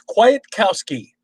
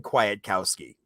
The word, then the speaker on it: Kwiatkowski: It's Kwiatkowski. Oh, I would not have said Kwiatkowski.